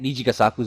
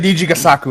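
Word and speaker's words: Nijigasaki: You got your Love Lives, because I think Nijigasaku's also there as well.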